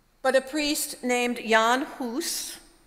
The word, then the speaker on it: Hus: But a priest named Jan Hus, rhymes with goose, that's how you remember these things, and it actually means goose in Czech.